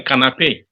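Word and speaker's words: canapé: safer to say uh to use the Expression canape okay so a sofa or a couch in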